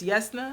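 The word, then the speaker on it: Jasnah: names are pronounced but i would have never said yes yes no because it's a j so but um the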